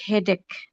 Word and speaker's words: headache: We can say headache, bukan cah ya, tapi headache.